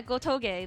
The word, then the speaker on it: Gotoge: How do you say her name again? It's like Gotoge or whatever. Sorry, I don't mean to say whatever. I love her work. I should not I should not say her name in vain. Yeah, Gotoge, that's right.